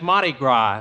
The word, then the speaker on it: Mardi Gras: Jimmy, that's Mardi Gras. The S is pronounced ah, as in pâté de foie gras and vichyssoise.